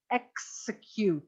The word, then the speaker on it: execute: Execute. The X in English is always pronounced x, not ch, right?